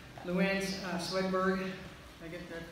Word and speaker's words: Louann Swedberg: So Aaron Schneider, Luann Swedberg, did I get that pronounced right?